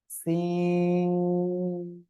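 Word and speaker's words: سين: জিহ্বার আগা, সামনের নিচের 2 দাঁতের পেট ও আগার সঙ্গে লাগিয়ে এরকম একটা আওয়াজ হয়ে এটা উচ্চারণ করতে হবে। সিন, সিন।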